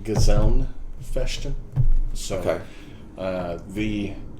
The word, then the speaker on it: Gesellen: there twice uh well the official pronunciation has an n at the end of it uh so it's like gazellen question so okay uh